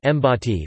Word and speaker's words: Bati: The Fiji National Rugby League team, nicknamed the Batty, pronounced Mbati, represents Fiji in the sport of rugby league football and has been participating in international competition since 1992.